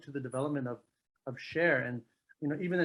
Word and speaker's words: Cher: I wondered about that even though it's spelled c-h-e-r probably s-h-a-e-r might have been gone but that is I thought it was probably about share it is it is